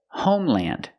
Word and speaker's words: homeland: Example, homeland. Two words together, home, land. Pronounce it land, homeland.